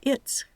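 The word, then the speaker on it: it's: la s Sonora pero como en la contracción la s sigue a una t se pronuncia its Con la s sorda it contra es con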